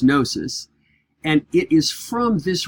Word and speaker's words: gnosis: for knowledge is gnosis it starts with a silent G so it looks like a gnosis but it's gnosis and it is from